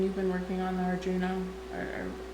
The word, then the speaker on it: Arduino: So I've been knitting on these socks for a while, and you've been working on the Arduino, or how do you say it? Arduino.